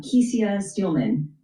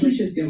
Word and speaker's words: Kesia Steelman: And talk to us about the president and the CEO, uh Kesia Steelman. Am I pronouncing your name correct? Kisha Steman. Kisha Steelman. Okay.